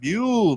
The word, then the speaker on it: mule: So we're here sipping on the ginger mule made with our choice of whiskey. I mean, did I say it right? Is it mule or mole? Mule. You said it right.